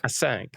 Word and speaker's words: Acinq: of talks about uh async at conferences awesome i prefer the french pronunciation i sunk i sang yeah okay cool man